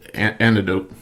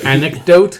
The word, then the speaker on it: anecdote: Hitchcock gave the anti antidote oh it's not antidote antidote antidote antidote antidote that uh anecdote anecdote thank you I knew there was a syllable in the I was missing most important one uh so the story